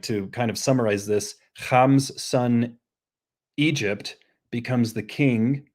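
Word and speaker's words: חָם: This is not Greek, but so we say Ham in English, but in Hebrew it's Ham, with that like pharyngeal fricative.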